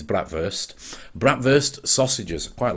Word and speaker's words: bratwurst: it as you will bratwurst is the Yorkshire pronunciation but the proper German pronunciation is bratwurst bratwurst sausages quite like